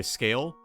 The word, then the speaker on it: scale: I get it okay scale you don't pronounce the e no you don't pronounce